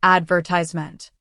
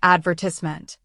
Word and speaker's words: advertisement: Americans usually say advertisement and Brits might say advertisement. Both are right, just different.